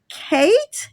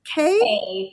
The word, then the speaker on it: Kaye: such a great time kate is that how you pronounce your name k how do you pronounce it y e just like the letter how do you pronounce it just k just k oh gotcha see i'm